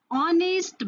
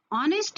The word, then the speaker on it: honest: similarly if i say honest man this honest man but it is a consonant it is starting with a consonant letter h here h is silent and the sound is o o is a val